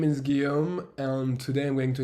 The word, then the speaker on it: Guillaume: app so as i said my name is guillaume which is often hard to pronounce for non-french people so you can call